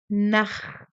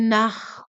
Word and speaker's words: Nacht: Esse ar aqui, essa pronúncia aqui, Gute Nacht, ele sai aqui da garganta. Gute Nacht, sai assim um ar aqui da garganta.